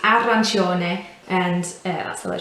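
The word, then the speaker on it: arancione: and it's um uh whenever it's c or an i it's always a ch ch sound so some a common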